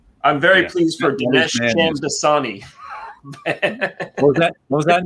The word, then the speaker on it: Shamdasani: Shamdasani, like the water. So like fake Dasani water, Sham Dasani.